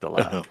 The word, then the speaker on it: Delaque: They don't know anything because they don't exist because it's pronounced Delaque.